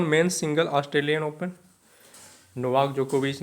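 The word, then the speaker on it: Djokovic: जाता है तो नोवाक जोकोविच है ना डी यहां पे साइलेंट है तो ऑस्ट्रेलियन ओपन में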